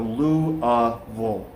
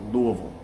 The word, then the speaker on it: Louisville: oh if you live here you call it louisville so lu uh vol it's like l-o-u-u-h-v-u-l-l is how how it sounds louisville uh the thing i